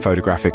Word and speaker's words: photograph: We'll start with photograph. The stress is on the first syllable, so it sounds like photograph with a strong pho.